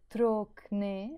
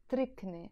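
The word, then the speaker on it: تركني: end which means me we don't pronounce it Drock nee anymore which means leave me we drop this oh and it becomes tricky and actually we're adding a castle here trick knee leave me trick knee if we're talking to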